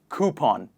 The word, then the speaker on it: coupon: it is coop on please repeat after me coupon next one in the list is tomorrow what